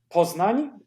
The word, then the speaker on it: Poznań: Okay, it's Poznań. That's how you pronounce it, but you can write Poznań, Poznan, without the weird letter at the end.